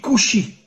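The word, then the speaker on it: כושי: En hébreu, le mot noir se dit kushi. Alors bien sûr, vous ne connaissez pas l'hébreu, mais faites-moi confiance. Le mot kushi s'écrit en hébreu kaf vav shin yud.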